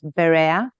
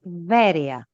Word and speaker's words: Veria: also want to say, I don't know why they translate this Greek city as Berea or Berea, but the word is Veria. So I don't know how from Veria we get to Berea,